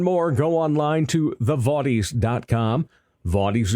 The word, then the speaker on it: Vaudies: Vaudies is spelled V-A-U-D-I-E-S. Think modern day vaudeville.